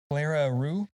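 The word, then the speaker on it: clerihew: Cleric a roux. Is it r o u x? That's how you pronounce it, but it's spelled c l e r i h e w.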